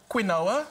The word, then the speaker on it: quinoa: It's the one that looks like it's spelt quinoa. Quinoa. It's not quinoa. It's quinoa.